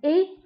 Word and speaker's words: et: Fahad e. Mumkin oudouha b et puis. Il se prononce e.